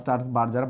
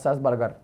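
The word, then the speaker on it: Strasburger: বিজ্ঞানী স্টার্সবার্জার বা স্টার্সবার্গার, BUR, স্টার্সবার্জার বা স্টার্সবার্গার, উচ্চারণটা দুটোই হইতে পারে।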